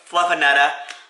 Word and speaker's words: Fluffanutta: This is the grilled Fluffanutta. There we go. That's how you say it. Like I said earlier, you gotta say it with a Boston accent, otherwise it's not, you're not saying Fluffernutter.